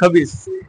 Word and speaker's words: খবিস: মানুষে গালি দেয় না, খান্নাসের ঘরে খান্নাস, খবিসের ঘরে খবিস। খবিস উচ্চারণটা ঠিক আছে, ওখানে জবরে আকার নাই। খাবিস তো আর কোনা, খবিস ক।